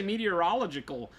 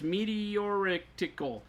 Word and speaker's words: meteoritical: It's not meteor. I want to say meteorological, but it's meteoritical.